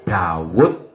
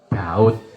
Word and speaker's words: Daud: Kita menyebutnya Nabi Daud atau Nabi Daud. Dalam bahasa Arab memang dikenal dua pengucapan itu.